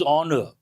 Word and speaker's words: honor: President Donald Trump has garnered the dubious honor. There's another word garner means to gather. Donald Trump has gathered the dubious honor means doubtful honor. An important word here. It is not honor. H is silent.